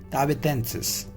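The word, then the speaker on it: tahitensis: So this is the pronunciation is Tahitiensis, right?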